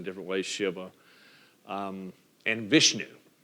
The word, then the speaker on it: Vishnu: or sh sh Iva you also hear it pronounced in different ways Shiva um and Vishnu v i s h nuu v i s